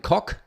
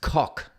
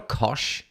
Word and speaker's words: Koch: Now, to you people over in the US, you're probably thinking, who is David Koch? Which it is pronounced cock. So don't go, it's not a Koch.